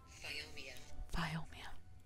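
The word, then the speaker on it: Phiomia: Oh, still just need a Fiomia. Is it Fiomia? Foimia. Is it Foimia? How to pronounce Biomia? Here's a Google translation. Biomia. Biomia. Right? Listen. Biomia. I got it right. I was correct. It's Biomia.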